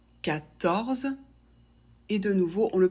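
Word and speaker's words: quatorze: de la même manière 14 la lettre Q en français fait le son que elle est toujours ou presque suivie par un U il y a quelques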